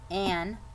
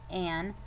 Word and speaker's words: Anne: Okay, it has a silent E. Anne. 2 syllables, an A and an E, but the E is silent.